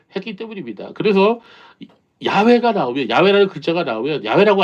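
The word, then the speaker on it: 야웨: 학자들은 그 여호와의 정확한 발음이 야외라고 합니다.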